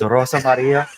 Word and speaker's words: Rosa Maria: kind of the M you don't say her name right Ros Mar Rosa Maria Ros Mar you need to listen to me it's Rosa Maria you need to come